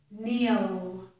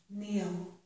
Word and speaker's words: kneel: In this word, kneel, the K is silent. The sound is N, kneel.